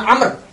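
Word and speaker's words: عمرو: dari Amr Bin khijah kalau tulisan Amr itu tidak ada wawunya maka dibacanya Umar ini ya tulisannya kalau ada wawunya dibacanya Amr ini apa namanya luncu sekali bahasa Arab Jadi kalau ini Amr kalau ini Umar kalau itu k Amr as I am Amr kalau gak ada wawunya ini dibacanya Umar baik e kita lanjutkan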